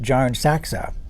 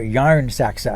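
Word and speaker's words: Járnsaxa: a physical relationship with john saxa or yarn saxa i guess because you don't pronounce jays so yarn saxa is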